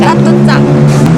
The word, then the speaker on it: Chatuchak: The pronunciation is ... Chatuchak Chatuchak Erai ~ Ah ~ I want to see it soon!